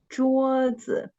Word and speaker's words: 桌子: And the neutral tone is always on the second syllable of the word. And the first syllable is the word stress.